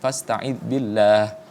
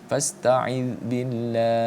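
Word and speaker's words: فاستعذ بالله: Panjangkan dulu, jangan kemudian langsung berhenti. Fasta'id billah. Salah. Panjangnya harus sama dengan mad arid lisukun yang lainnya. Fasta'id billah.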